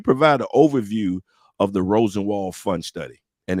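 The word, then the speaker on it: Rosenwald: today y'all we're gonna be talking about the Rosen wall did I say it right yes Rosen wall fun study and miss miss Helen is going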